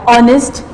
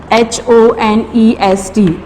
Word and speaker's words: honest: Okay, for more example like honest, H-O-N-E-S-T. In this word, H is silent and the sound starts from the O, honest.